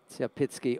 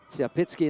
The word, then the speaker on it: Tsiapitsky: And I can assure you that I've checked with the Belarusians about the U, and they do pronounce it like a V. So Vladislav, whatever it looks like.